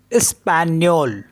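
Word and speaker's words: espagnol: ई एस पी ए जी एन ओ एल स्पेनियो स्पेन्योल means Spanish और दूसरा होता है एम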